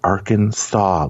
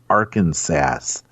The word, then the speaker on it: Arkansas: Shader it is pronounced Arkansas like SE saww like I saw the man it's not Aransas do we call it